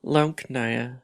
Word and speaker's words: Leckna: My language, which can be pronounced Leckna and can be interpreted as can speak, is an international auxiliary language.